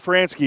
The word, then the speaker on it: Franzke: Frank how do you pronounce his name Scott fransky Scott franski is the isn't pronunciation of the Phillies radio play-by-play voice fix